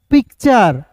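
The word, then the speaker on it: picture: फिर देखिए दोस्तों यहां पे पी आई सी टी यू आर ई तो इसे पढ़ेंगे दोस्तों पिक्चर। क्या पढ़ेंगे? पिक्चर। पी का प हो जाएगा। आई का ई हो जाएगा। पी सी टी चर।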